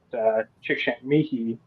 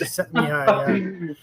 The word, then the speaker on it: Csikszentmihalyi: If you look at what Csikszentmihalyi, there you go. I think that's how you pronounce it. Csikszentmihalyi, yeah.